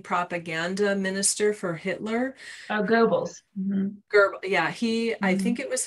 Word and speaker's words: Goebbels: Oh, Goebbels.